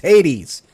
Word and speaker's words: Hades: That bugs me he's pronounced it as hates. It's Hades, but Arc Raiders.